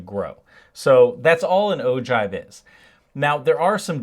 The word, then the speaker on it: ogive: So an ogive, which yes is pronounced ogive, though no one's going to count off if you say ogive, is a graph that represents cumulative frequencies for classes in a frequency distribution.